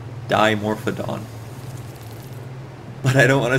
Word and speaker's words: Dimorphodon: it doesn't sound right d m o to me sounds like or it looks like it would be pronounced demo however I do not want to say demorphed do either it is die like the the prefix for two dimorphodon but I don't want